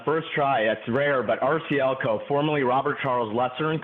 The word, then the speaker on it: RCLCO: That's rare, but RCLCO, formerly Robert Charles Lesser and Company, and the acronym came the way we went going forward, obviously. Okay, so here it goes. Completely overhauling and revitalizing RCLCO's real estate advisors' brand exposure and client engagement efforts.